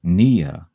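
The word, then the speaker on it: -pnea: Nea hyphen P Nea is pronounced Nia the p is silent and it means breathing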